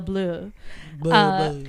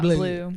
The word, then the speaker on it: Bleu: wine bar called Belle Bleu. I assume it's pronounced bleu and not blue.